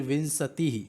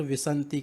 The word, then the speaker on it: विंशति: फिर विंशति, इसको कई छात्र विसंति कहते हैं, तो ये गलत है इसका उच्चारण।